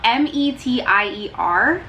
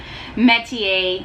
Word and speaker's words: Metier: Spelled M-E-T-I-E-R. I looked up the phonetic pronunciation to this and I still feel like I'm not pronouncing it right, but it's pronounced Metier.